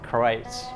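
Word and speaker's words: Kreuz: texas black smitty's and krites kreitzer kreutz you know spelt croix pronounced christ like a german pronunciation and they're old places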